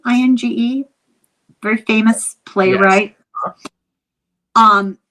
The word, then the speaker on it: Inge: But this was a William Ing. Is that how you pronounce his name? Inge?